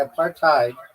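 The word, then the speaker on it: apartheid: a par followup why aparthide is why a part tide is not pronounced a because it's not not an English word originally. It comes from African and in that language hide is pronounced like hate or height not head or hid.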